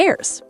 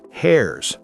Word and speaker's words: heirs: The rest goes to the heirs. Heirs, not hairs.